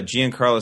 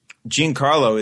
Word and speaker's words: Giancarlo: Oh, speaking of Giancarlo Stanton, that we talked about him last week.